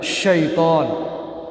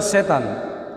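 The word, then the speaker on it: شيطان: Jadi sedikit saya sampaikan, syaitan, coba kita bacanya yang benar. Syaitan. Syaitan. Syaitan. Jangan dibaca setan.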